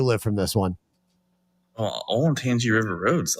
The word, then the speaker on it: Olentangy: How the fuck do you pronounce that, Zach? Olentangy.